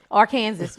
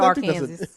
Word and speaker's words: Arkansas: Who the Arkansas. You can't pronounce it Arkansas.